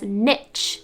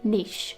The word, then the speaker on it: niche: the word again is supposedly niche some people mispronounce this word as niche but it is actually niche moot often mispronounced as mute this word sounds